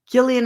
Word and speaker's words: Gillian: no you are live Gillian is pronounced with a soft G it's oh is it